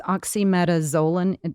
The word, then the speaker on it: oxymetazoline: it's a smooth muscle relaxer i'm going to butcher the um the name it's oxymetazoline zolanine am i saying that correctly oxymetazole yeah